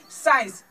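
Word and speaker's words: science: जैसे एग्जाम्पल हम बता दे, साइंस। आप लोग देखिए साइंस में एस के आगे सी है तो ई, इसका उच्चारण नहीं हो रहा है, एस का उच्चारण हो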